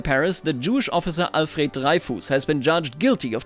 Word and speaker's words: Dreyfus: I always have trouble with French names because, like Foch, they're spelled differently than they're pronounced. Dreyfus or Dreyfus? Let's say Dreyfus, convicted of treason.